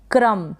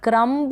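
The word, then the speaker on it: crumb: फिर ये है क्रम। क्या है? क्रम्ब नहीं पढ़ेंगे, क्रम पढ़ेंगे। एम के बाद में जो बी का प्रोनाउंसिएशन है वो नहीं होगा।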